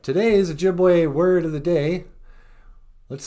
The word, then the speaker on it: Ojibwe: And then E's always sound like A's, like in the word Ojibwe.